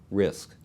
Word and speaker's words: RISC: reduced instruction set computers abbreviated risc and pronounce risk think of complex instruction